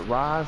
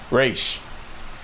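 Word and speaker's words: Ra's: Do you pronounce it Raz? Do you pronounce it Raish? Raish.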